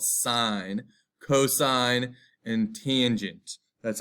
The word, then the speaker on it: sine: we can know the sine cosine and tangent that's not the sin that's called sine cosine and tangent that's